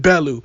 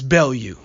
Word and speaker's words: Bellew: bail you I'm sorry she's not Belu I'm in America so I pronounce it Belu but it's bail you excuse me Tony bail